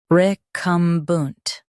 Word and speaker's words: recumbent: Both US and UK have the same pronunciation of this word, recumbent. Now read the syllables shown on the screen naturally. Re, cum, bunt, recumbent. Stress cum and keep bunt soft.